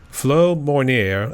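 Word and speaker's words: Mounier: I know I'm going to probably pronounce it wrong because it's French, so it's like Flo Mornier, I think that's how you pronounce his last name.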